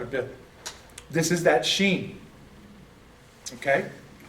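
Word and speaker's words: shin: Now, we know it's sheen because remember I said, if the dot is on the right, it's pronounced SH. If the dot is on the left, it's the S.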